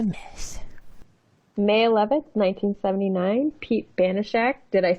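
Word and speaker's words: Banaszak: May 11th, 1979, Pete Banashak, did I say it right?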